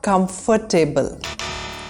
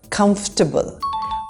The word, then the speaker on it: comfortable: This is not comfortable. This is comfortable. We don't need to say every syllable in the word. Just comfortable.